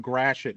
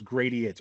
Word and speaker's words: Gratiot: Did they ever go down Grashet? Did they ever pronounce it as Gradiates or Gradiot?